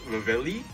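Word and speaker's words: reveile: mean i okay the the origin name from it is a r e v e i l e which i found out like a few months ago that's pronounced rivelli well now that i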